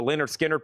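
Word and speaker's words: Lynyrd Skynyrd: I still got the Leonard Skinnard puzzle.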